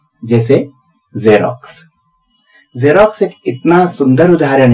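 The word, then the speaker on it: Xerox: एक्स ई आर ओ एक्स, यह है इसकी स्पेलिंग, और पहले वाला एक्स बना रहा है ज, और बाद वाला एक्स बना रहा है आधा क और स।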